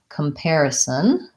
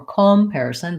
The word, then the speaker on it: comparison: we'll talk about comparison there's our one of our O's that doesn't say oh because it's not stressed so we have air is our stress syllable the AR and this word is an air diphthong and then our unstressed first syllable sounds like vowel schwa ah so dot-com or comparison but come comparison compare a son comparison again I'm gonna change